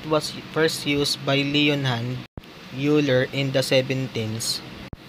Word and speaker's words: Euler: first used by leonard euler in the seventeens many mathematicians pronounce leonhand euler names as euler instead of euler however another mathematician named